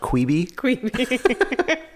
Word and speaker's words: Quibi: now that we know kwibi is dumb it's pronounced qui B what are you most